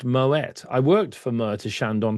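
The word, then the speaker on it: Moët: Bring me my Moette. Yeah, Claude Moette was a Dutchman. He was not French and we pronounced the T in the Netherlands.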